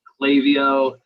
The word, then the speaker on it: Klaviyo: I say Klaviyo from the Pacific Northwest. Apparently we talk funny. I don't know. A lot of people pronounce it Klaviyo.